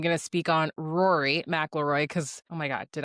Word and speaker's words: McIlroy: And I'm going to speak on Rory McIlroy because, oh my God, did I just say his last name wrong? We might have to edit that out. Rory McIlroy?